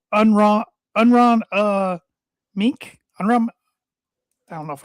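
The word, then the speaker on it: Aronimink: It starts with an A, but how you break it down is UH. This is the pronunciation. RONUHMINK.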